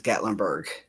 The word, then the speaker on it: Gatlinburg: So it's Gatlinburg. So I was saying it correctly.